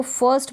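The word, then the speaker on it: first: यहाँ पर एक चीज़ आपको ध्यान रखनी है, आई के साथ अगर आर का कॉम्बिनेशन रहता है ना तो इस आर को हम जो है प्रोनाउंस थोड़ा लाइटली करते हैं, मतलब हल्का इसका उच्चारण करते हैं। आप इसको ज़ोर दे के बिल्कुल ना पढ़ें क्योंकि जो स्पेलिंग का प्रोनाउंसिएशन है वो बिगड़ जाएगा, बिल्कुल ख़राब लगेगा कि गलत पढ़ रहे हैं आप।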